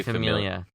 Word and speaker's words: Familia: It's family or Familia? I want to say Familia. It is Familia with an A.